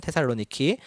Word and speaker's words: 테살로니키: 또 이제 그리스의 지금 현재 있는 제2의 도시죠. 테살로니키라고 발음하죠. 지금은 테살로니키.